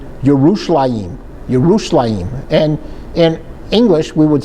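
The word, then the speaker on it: ירושלים: that there was there's no J's in Hebrew. Jar or in English, but today we call it Jerusalem. But if we were to talk about it in Israel, we would say yushim yushim.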